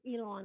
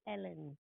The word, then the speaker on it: Elon: Musk, He says Elon, and I say Ellen.